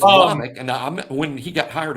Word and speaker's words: Womack: It's Womack, and when he got hired at South, and I had to say his name all the time because I was in Mobile.